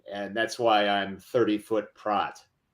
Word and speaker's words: Pracht: Pracht. It's like yacht. Oh, excuse me. Pracht, like kind of silent CH, Pracht? Yeah, Pracht.